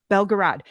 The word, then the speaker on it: Belgorod: The Belgorod or Belgorod? Belgorod.